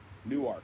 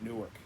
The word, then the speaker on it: Newark: We stopped off just outside of Newark, Delaware, and it's Newark, not Newark. It's spelled the same though.